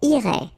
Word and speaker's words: irait: And then, il, masculine form, irait, final T not pronounced. So what you can see is that this form, and this form are actually pronounced the same way.